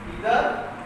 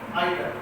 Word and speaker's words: either: We can pronunciation this word two types, either or, either or. You can call it either and you can call it either. Both are correct.